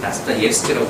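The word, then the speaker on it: Достоевский: 역시 이것도 다스토옙스키라고 발음하는 게 맞는데 여하가 러시아 이름은 세 가지로 구성됩니다.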